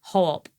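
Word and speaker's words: Coop: Well, in Tuscany, they call it ho-op because they don't pronounce the k. It's like a h.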